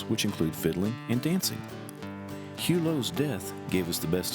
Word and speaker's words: Hugo: known as hulo mill it was often spelled hugo but pronounced hulo mill i was never really